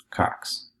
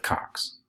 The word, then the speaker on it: Cox: in the picture that this poodle is also in a box which rhymes with my last name Cox so just to translate